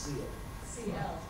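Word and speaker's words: Siel: Now, her name is spelled S-I-E-L, but it's pronounced C-L. CL.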